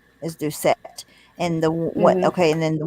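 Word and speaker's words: Ducat: in the picture is james do set that's how you say it hold on i'm gonna put it back up there so the one on the right is due set and the okay and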